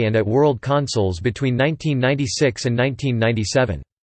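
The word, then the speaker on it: @WORLD: named the system the Bandai Pippin at World pronounced at world Liat world had the same specifications as the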